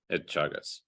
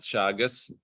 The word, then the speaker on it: Teagasc: Teagasc.